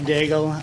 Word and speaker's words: Daigle: I'd like to welcome Daigle. Is that how you pronounce it? Come on up. Welcome. Thank you very much for the invite. My name is Daigle.